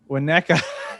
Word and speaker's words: Winnetka: Winnetka.